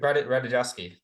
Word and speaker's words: Ratajkowski: Emily Ratajkowski? I don't know how to say her last name. Ratajkowski.